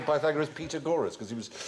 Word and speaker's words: Pythagoras: go you you ask your mathematics teacher this must do the pagor and we going to do pagor go shut up FR pagor years later I discovered he meant P Pythagoras he used to pronounced